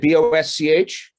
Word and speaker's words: Bosch: Is it Bosch?